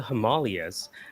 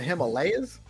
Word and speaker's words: Himalayas: ] off to India, climbed the Himalas in search of a guru. The guru died before he got there. You mean the Himalayas? Himalayas? I'm using the pronunciation for the domain.